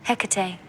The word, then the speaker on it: Hecate: This little guy on top, how do you pronounce it? Hecate, demon of the night.